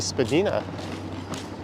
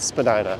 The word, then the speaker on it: Spadina: names in Toronto and she highlighted Spadina and said it was really spagina I made a comment that that's incorrect south of Bloor it is Spadina north of Bloor it's Medina Spadina Avenue or Spadina Road